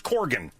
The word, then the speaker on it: Corgan: right what's that Corgan it's Corgan you should actually probably should be Coran but we say so do you wear